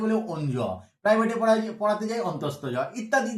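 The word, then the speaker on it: অন্তস্থ য: অন্তস্থ জ। শুধু জ বললে ভুল হবে, এর অরিজিনাল উচ্চারণ বা নামটা হচ্ছে অন্তস্থ জ।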